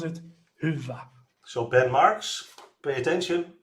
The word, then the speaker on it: Hyvä: It is Finnish.